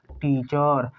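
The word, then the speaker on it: teacher: हम टी को देखो, टी को पढ़ते हैं ट और ई, ये दोनों एक साथ आया है इसलिए पहले वाले वावेल को पढ़ेंगे ई और एक दूसरे वाले वावेल को साइलेंट रख देंगे। सी एच को पढ़ेंगे च और आर के पहले ई है इसलिए ई को पढ़ना ही नहीं है, डायरेक्ट आर को पढ़ेंगे र। क्या हो गया टीचर।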